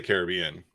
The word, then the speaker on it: Caribbean: So do I say it wrong? I say Caribbean. I don't think you say it wrong. I just always Okay. have said Caribbean, but it's not like one's wrong and one's right.